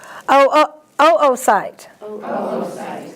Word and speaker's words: oocyte: You have two O's here in some words, so you have to pronounce both O's. Oocyte.